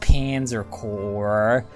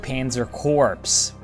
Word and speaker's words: Panzer Corps: surprised its Panzer Corps yes I know it's pronounced Panzer Corps but I'm gonna pronounce it Panzer corpse this is an empire one wrong move by